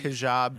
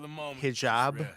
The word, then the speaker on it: hijab: Hijab? Or what do like Muslim people call it? I don't know. It's spelled like H-I-J-A-B, so I'm going to say hijab.